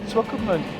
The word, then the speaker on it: Swakopmund: Swakopmund. Well, it's situated 30 kilometers outside Walvis Bay, and it's quite a tourist attractive place. It has been colonized by Germany. It's got this German background in Swakopmund.